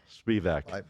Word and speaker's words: Spivack: Spivak.